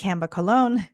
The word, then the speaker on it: Camba Colón: name is Dr CA colog and uh it's pronounced CA colog and you can call me Dr CA colog